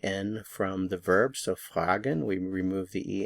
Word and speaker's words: fragen: new verb the verb fragen fragen fragen means to ask the stress is on the FR fragen fragen fragen we